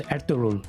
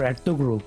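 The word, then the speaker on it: Ertuğrul: a Turkish show called eruru or erugu depending on whether you pronounce a g or not after prime minister Imran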